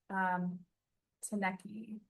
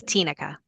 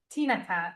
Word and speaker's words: Tinica: And Taneki. Let me know if I'm pronouncing that. It's Tinica. Tinaka. Thank you, Tinaka.